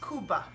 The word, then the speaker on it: kubba: it pronounced Kiba and from what I understand in Iraq it's pronounced kuba and that it's really